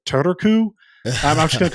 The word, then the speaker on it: Turku: You have to do the R sound separately from the U sound.